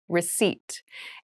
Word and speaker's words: receipt: a very interesting spelling there is a p in the spelling of this word but we do not pronounce it the pronunciation is receipt a receipt is a